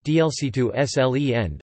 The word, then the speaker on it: Dolchstoßlegende: The stab in the back myth, German, Dolchstelegende, pronounced DLC2SLEN, listen, was the notion, widely believed and promulgated